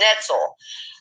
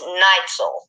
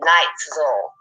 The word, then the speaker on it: Neitzel: I was calling him Netzel, and it's not. It's Neitzel, like he put in the comments, Night, Nightzel, Neitzel.